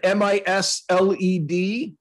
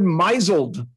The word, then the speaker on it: misled: lot of words uh she pronounced that word mizelled oh wait a minute she has been misled as how that is supposed to be pronounced but it sounds really